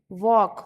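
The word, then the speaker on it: walk: वॉक वॉक यानी कि चलना। एल साइलेंट है तो तुम्हें चलना होगा।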